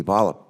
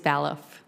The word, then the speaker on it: Baloff: It could be Baloff as in ballet, or it could be Ballop as in ball game. How do you pronounce it? It is Baloff.